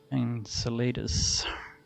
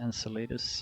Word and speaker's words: Enceladus: ice after similar microbial matter was found on enceladus how you pronounce it enchiladas and chelatus enceladus another satellite of saturn it seems increasingly possible